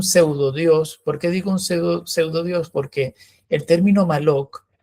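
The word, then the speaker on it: מולך: Que es el rito de Moloch, eh, que en hebreo realmente no es, se escribe Malok, ¿no?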